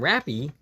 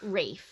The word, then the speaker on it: Rafe: I'm pretty sure his name's pronounced Rafe. Rafe, okay. I think. It's either Raph or Rafe. Well, I think Rafe.